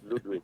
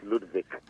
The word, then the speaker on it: Ludwig: Because I realized that the Germans call it Ludvik. Yes. Ludvik. Okay. Anyway, so the English pronunciation is Ludwick. Well, you you call it Ludwick.